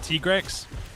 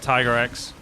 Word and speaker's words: Tigrex: By the way, that's how the handler pronounce it, Tigrex. Huh, I always call it Tiger X. Well, when I was a kid, it was Tiger X, and then it became Tigrex.